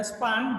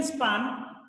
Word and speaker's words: span: The new topic is linear span या span, जो भी आप बोलो, linear span of a set, linear span of a set, linear span of a set, linear span of the set, जो भी आप pronounce करो दोनों सही है।